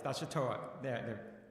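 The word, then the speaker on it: Nashotah: Paul, Minnesota, and is completing a doctoral degree in Scripture at the Neuchâtel, am I pronouncing that correctly? Yes, Neuchâtel, Neuchâtel House Theological Seminary in Delafield, Wisconsin, as well as a Doctor of Education from the University of St.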